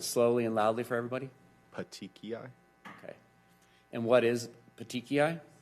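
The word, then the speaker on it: petechiae: can't that's fine I can't all right but pronounce it slowly and loudly for everybody patii okay and what is patii uh it's blood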